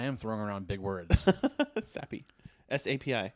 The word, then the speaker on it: SAPI: enjoy the word sappy because whenever I use it, my boss looks